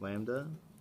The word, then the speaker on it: lambda: Oftentimes, lambda, this is pronounced lambda, is the linear mass density.